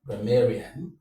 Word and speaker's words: grammarian: So, you have gra- may- rian. This is what take the stress. The stress falls on may because may is the penultimate syllable.